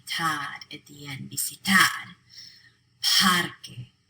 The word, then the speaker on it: parque: Parque. The stress is on pad.